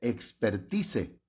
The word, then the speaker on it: expertise: viene la palabra expertise nada más que se escribe expertise pero la e final es muda entonces esa palabra proviene